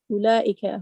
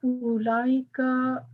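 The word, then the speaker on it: أولئك: dhalika and tilka is ulaika, those. Note that the waw in ulaika is not pronounced. The word is pronounced as ulaika, not ulaika.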